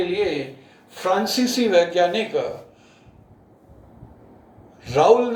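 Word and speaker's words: Raoult: तो इनको समझाने के लिए फ्रांसीसी वैज्ञानिक राउल ने, इसको बहुत सी बुक्स में राउल्ट लिखा हुआ है, इंग्लिश में स्पेलिंग राउल्ट है, प्रोनाउंस राउल करते हैं, राउल के नियम से समझाया गया है।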